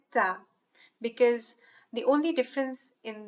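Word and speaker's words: ط: The first letter today is called Ta. Ta. Letter Ta is pronounced with a fuller mouth, so the sound of Ta is a heavy sound.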